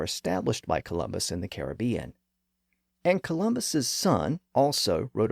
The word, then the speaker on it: Caribbean: let me acknowledge that there are two common pronunciations of that word especially in American English we have Caribbean and Caribbean I will admit that my pronunciation often fluctuates between the two but for purposes of this podcast I'm going to use Caribbean which is the older and more traditional pronunciation within English also one other quick